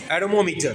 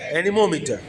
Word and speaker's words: anemometer: एरोमोमीटर, ठीक है, एरोमोमीटर, ठीक है, एनीमोमीटर। प्रोनाउंसिएशन क्या है? एनीमोमीटर। एरोमोमीटर मैंने बोला, सॉरी, एनीमोमीटर, ठीक है।